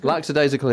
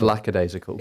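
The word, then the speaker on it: lackadaisical: It's lacadasical because they because you get heart you you I think people confuse it with the expression whoops a daisy.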